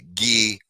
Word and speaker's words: Guy: of imagination and uh G uh which is spelled guy uh Filipe G Filipe